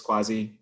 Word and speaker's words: Kwasi: this conversation um so my name is quasi in case you were wondering how to pronounce that um so i'm based